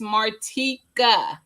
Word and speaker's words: Martika: But David, you still said it wrong. It's Martika.